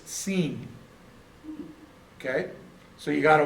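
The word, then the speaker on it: שׂ: If there's a dot or a dagesh on the right-hand side, it's sheen. If the dagesh is on the left-hand side, it's seen.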